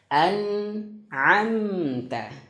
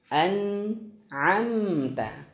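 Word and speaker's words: أنعمت: Cara bacanya adalah harus jelas. Harus jelas. An'amta. An'amta. Dan ingat, huruf nun dan huruf mim dia memiliki sifat namanya juga tawassut. Apa itu tawassut? Mengalir sedikit suaranya.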